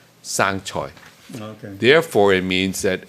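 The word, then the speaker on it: 生菜: sure there is, Yeah, but, there it's actually means, the lettuce in Chinese, at least in Canada, is pronounced sang choi.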